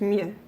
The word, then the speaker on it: mieux: Just ignore the X. It's just mieux.